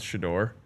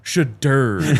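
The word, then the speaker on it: Shedeur: show was talking about how to pronounce Shador. Yeah. And just the way that he said he's like it's not Shadur.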